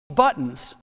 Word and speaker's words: buttons: pronounces the word buttons you see he says button buttons not button all right so there is a bit of a glotto sound there but button all right that's how he says it button and the sentence goes